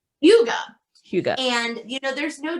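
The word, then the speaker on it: hygge: that the huga hugo h-y-g-g-e i called it higgy until i looked up for this show how to actually pronounce it it's called yoga hugo and you know there's no direct translation but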